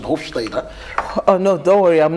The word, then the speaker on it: Hofstede: culture, which is Hofstede's, that's actually the pronunciation, Hofstede.